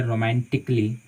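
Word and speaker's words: romantically: जैसे कि मान लीजिए आप रोमांटिकली, ठीक है, डबल एल वाई, तो यहाँ पे देखिए कि ए के बाद डबल एल वाई आया, तो इसको हम पढ़ते हैं रोमांटिकली।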